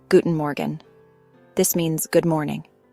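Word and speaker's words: Guten Morgen: If you're greeting someone in the morning, you would say Guten Morgan. This means good morning. Guten Morgan. The R in Morgan is soft, almost like a gentle gargle in the back of your throat.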